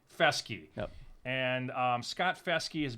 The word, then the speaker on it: Festge: Festge. Festge.